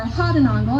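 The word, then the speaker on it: Gouden Engel: the golden angel or had an angle as it is roughly pronounced in Dutch and it gets its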